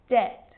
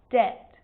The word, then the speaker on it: debt: So think of these examples: subtle, debt, and doubt. So see, in all of those examples, my lips aren't closing and coming together to form the B sound. I'm just pronouncing the T. Subtle, debt, and doubt.